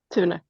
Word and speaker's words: Thune: Is that how you say it, or is it Thune? Thune.